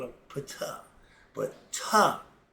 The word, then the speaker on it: Ptah: Ta. We call it pata. But ta, the P is silent.